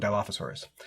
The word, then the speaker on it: dilophosaurus: for the ornery dilophosaur and i nailed the pronunciation because i've seen jurassic park like a hundred times so i know what dilophosaurus uh it is a two-two dinosaur with death